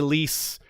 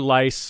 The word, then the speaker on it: Lys: But if you want to say Lys or Lice or Lys, they're all right, basically.